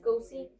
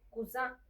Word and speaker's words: cousin: Cousin, pero no es cusí, es cusa. Cusa.